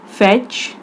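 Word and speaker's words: fetch: Who will come to फेच, इसमें टी हमारा silent है इसीलिए इसे छोड़ देंगे.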